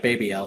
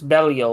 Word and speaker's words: Belial: The way they say it in the show always sounds like Baby L to me. No, there's an E to it, it's Belial or something like.